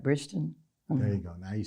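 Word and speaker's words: Bridgerton: Bridgeton.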